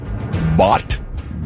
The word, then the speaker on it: baht: Public obscenity, and that carries a fine of about 5,000 baht, B-A-H-T, their currency over there. Is that how it's pronounced?